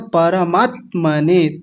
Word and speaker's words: परमात्मने: तो कैसे बोलना है? परमात्मने त आधा है। आधा ही बोलना है। परमात्मने परमात्मने ऐसा बोलना है।